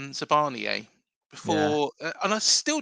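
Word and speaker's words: Zabarnyi: because I called him Zabarini, and he was like, "He's just turned Italian, has he?"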